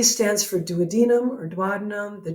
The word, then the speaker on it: duodenum: And in order, the first part is the duodenum. And yes, some people pronounce it duodenum. I don't care.